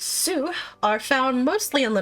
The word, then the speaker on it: S: The S, or Zu tribe, pronounced Soo, are mostly found in La Noscea, several of them serving in the Maelstrom.